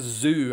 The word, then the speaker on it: Tszyu: So Alonso is Tszyu. Yeah, I know it has been Tszyu and Tszyu and all sorts, but it's zoo as in an animal zoo.